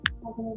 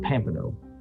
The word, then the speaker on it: Pompano: P-O-M, right, P-O-M-P-A-N-O, Pompano, P-O-M. not Pampano.